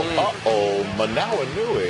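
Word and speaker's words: Hoomanawanui: Uh-oh. Manui everybody. I didn't say uhoh because it was tough to say his name. That's actually how you pronounce his name.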